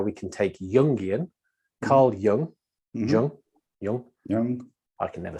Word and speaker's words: Jung: This is the sort of the 10-minute version of how we can take Jungian, Carl Jung, Jung, I can never say it properly, Jung, yes.